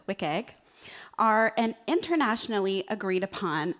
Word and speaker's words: WCAG: The web content accessibility guidelines, which I pronounce as WIKG, are an internationally agreed